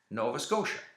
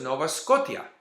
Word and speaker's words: Nova Scotia: o t i a Nova Scotia that's how it's pronounced in English but to him it was Nova scota you know because he